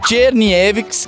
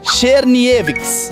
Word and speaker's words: Czerniewicz: tem umas pessoas que fala assim ó cherni evic ou xni evic tá errado o certo é falar cherni evix porque em alemão quando bota o c e o z junto fica com um som de X eu não sabia dessa